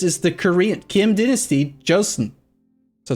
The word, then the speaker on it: Joseon: says he's korean and he says it's pronounced like a j because the name of it is actually this is the korean kim dynasty joseon so it's joseon not chelsea whatever anyway